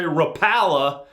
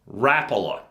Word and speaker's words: Rapala: and by the way all you guys who say Rapala I get it I used to say that too but I asked them how to pronounce it a long time ago and they said rapola so there you go